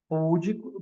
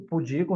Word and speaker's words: pudico: Púdico, pudico não é púdico, rúbrica não é rubrica, não é rúbrica, é rubrica.